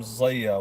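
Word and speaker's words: Zia: Why is Elvis's name Zaya? Well, first of all, let me just say this. I'll answer that question. My name is spelled Z-I-A, but it's actually pronounced Zaya.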